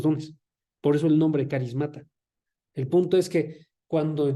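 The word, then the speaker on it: χάρις: griego para dones es carism carism se escribe ch y todo lo demás como suena carism okay nada más se pronuncia caris Okay este también lo van a escuchar como charis Pero se pronuncia caris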